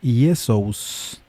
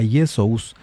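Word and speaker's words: Ἰησοῦς: Así el nombre hebreo Yeshua añade un sonido al final y cambia el sonido de la sh por el s y entonces se convierte en Yesus.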